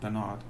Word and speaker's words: Bernard: Now in England, of course, we pronounce that Bernard Chapin, but I doubt he'd go for that somehow, and I'm not out to offend him, so we'll go with Bernard.